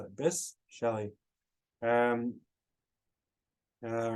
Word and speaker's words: Bysshe: He loved Percy Bysshe. How do you say it? Bysshe?